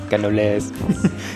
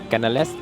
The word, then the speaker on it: canelés: Now, I’m walking up to get the canelés (which is actually pronounced ‘ka-nuh-lay’ :]] ).